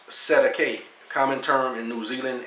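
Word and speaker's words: Cestui que: Sestuke trust, pronounced Sedake, common term in New Zealand and Australia.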